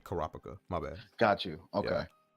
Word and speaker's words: Kopaka: you're right you're right kurpa is how I pronounced it before I heard them actually say kopaka my bad got you